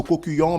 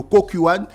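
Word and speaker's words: Kukkiwon: qui me dit toujoursv on dit pas le cokuyon mais on dit le cokuan donc la cérémonie va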